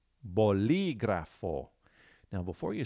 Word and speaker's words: bolígrafo: just like that okay so here's the word bolígrafo bolígrafo now before you spell it listen to how I'm stressing one particular